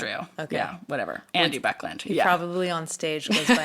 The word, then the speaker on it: Buckland: Buckland. Oh, I thought it was something else. No. What's his first name? Andy. Andy or Buckland. Andrew. Okay. Yeah, whatever. Andy Buckland.